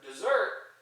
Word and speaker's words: dessert: These two are pronounced the same, dessert or dessert, but they're different parts of speech and they have different meanings.